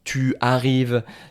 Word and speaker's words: tu arrives: Euh alors pour tu arrives, tu aimes. Non, on ne va pas dire ça. Je vais dire tuarrives, t'aime.